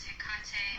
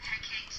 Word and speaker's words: Hecate: Now, some people say her name is Hecate or Hecate.